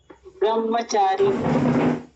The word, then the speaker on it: ब्रह्मचारी: ब्रह्मचारी हाँ, बाद में कई लोग बोलते हैं। माँ का प्रोनाउंस पहले करते हैं, हा का प्रोनाउंस।